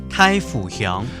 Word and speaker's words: 大湖鄉: 太府鄉，太府鄉，因為草莓它的甜分比較高啊，它可以做臭梅酒。